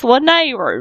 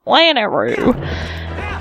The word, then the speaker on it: Lanayru: law nehru province and I finally pronounce that right it's it's Linnea not lanayru-- I knew Lana rude